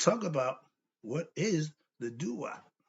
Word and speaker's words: Duat: about what is the DU it's spelled d u a t but the D is the T sound so it's really the Tua okay another lesson but